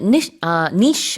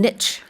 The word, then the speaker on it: niche: 자, 그다음에 niche 아니면 niche option. Yeah, you can pronounce it both ways. Yeah. I tend to call it a niche.